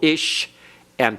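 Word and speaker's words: אִשָּׁה: So the ish, shah, the sheen has to be pronounced twice. To close the first syllable, ish, and to begin the next one, isha. All right?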